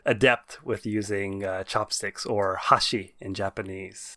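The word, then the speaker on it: 箸: So chopsticks in Japanese is pronounced hashi.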